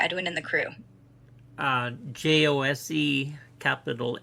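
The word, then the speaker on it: José: Pronounce that name, please. Jose. H O say.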